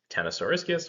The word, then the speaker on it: Ctenosauriscus: It is pronounced Ctenosauriscus or Ctenosaurus.